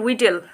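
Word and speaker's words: victuals: হ্যাঁ স্যার জানি, অ্যান্ড you know what, এই উচ্চারণটা কী বলো তো, উইটেল, উইটেল ইজ, এবং উইটেল কী জিনিস সেটা জানিস,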